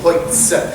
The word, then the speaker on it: Holz: You'll find that OL in Bavarian is always pronounced like a oi, oi, oi, Holz.